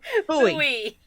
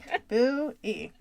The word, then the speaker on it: buoy: Buy buoy. If I could only talk. Buy buoy. Buie.